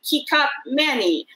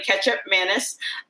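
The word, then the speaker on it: kecap manis: from indonesia which i didn't even know how to pronounce until recently i thought it was like teacup manny apparently ketchup mantis um yeah and so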